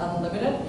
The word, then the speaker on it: UNLTD: So if you see that picture up there, UNLTD, that's how you pronounce it, Unlimited.